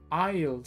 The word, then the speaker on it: aisle: Aisle seat, aquí no debes pronunciar la S.